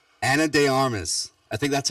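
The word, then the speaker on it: de Armas: I believe it's de Armis is how they say it.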